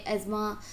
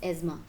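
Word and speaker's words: asthma: लगे हैं अभी से, बहुत सारे एज़मा को, जिसे आप लोग कॉमन लैंग्वेज में अस्थमा कहते हो, बट दैट is called the correct pronunciation is एज़मा।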